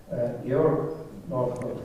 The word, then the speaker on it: Georg Northoff: And I am extremely honored to have as a speaker at our seminar today Professor Georg Northoff, or Georg Northoff, which will be a proper German pronunciation of his name, because Georg is originally